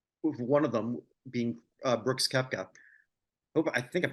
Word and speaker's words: Koepka: recently, and one of them being Brooks Koepka. I think I'm pronouncing that right.